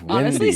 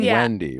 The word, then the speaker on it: Windey: like to request and it's windy not Wendy right it's windy yeah like the wind windy yeah got it right